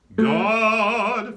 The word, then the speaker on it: God: singing the word God, it has an aw sound to it, right? Even though it's spelled with an O, the vowel sound is aw, kind of like an AH.